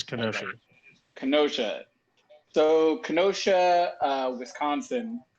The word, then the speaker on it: Kenosha: or whatever is it is it pronounced kenosha this ain't the x-men yeah so so the k is not silent so it is kenosha kenosha so kenosha uh